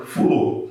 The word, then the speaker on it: flor: Na pronúncia regional, na variedade regional da língua, no Nordeste, o flor, a palavra flor, se torna fulor.